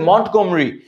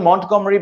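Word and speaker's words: Montgomery: উপাধি লাভ করেন general মন্টগমরি মন্টগমরি মন্ট ইংরেজিতে উচ্চারণ মন্টগমরি বাংলা উচ্চারণ মন্টে গোমারি সো মন্টগমরি তিনি ডেজার্ট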